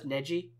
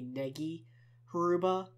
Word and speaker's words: Negi Haruba: i've always been pr i always pronounced his name as nedji and i will probably continue to do so um even though i have heard that supposed to be negi aruba whatever um he was sick